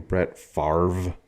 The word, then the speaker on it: Favre: player from the 9s how come they called his name Brett Favre because it's spelled favy or favor like the V is first f a v r e